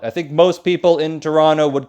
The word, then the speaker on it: Toronto: canada's biggest city is toronto yes that's how you say it toronto not toronto or toronto it's kind of only two syllables toronto it's bigger than vancouver